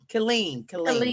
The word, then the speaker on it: Killeen: Killeen. Sorry. Yes. I'm from Pittsburgh. We pronounce every letter.